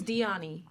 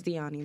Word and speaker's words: Diony: like what is it my name is diony but nobody can pronounce diani like it's like if you know me if you went to school with me you called me diani okay if you didn't